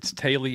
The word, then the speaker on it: Teulu: It's Teulu in Welsh.